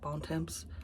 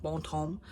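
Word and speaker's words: Bon Temps: was it bonom bonom I think that's how they pronounce it bontemps I say bontemps but it's I think it's like Bon home because it's that southern thing um and uh and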